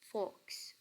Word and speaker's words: folks: How are the folks? How are the folks? اس میں L silent letter ہے so we don't pronounce it. We pronounce it folks.